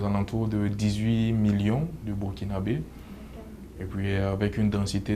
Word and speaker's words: burkinabè: contre le pays est en fait ça se prononce burkinabè donc c disons la combinaison des trois langues